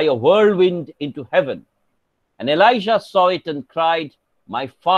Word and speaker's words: Elijah: and his mantle falls on his son elisha elijah is pronounced is spelled as j-a-h e-l-i-j-a-h and elijah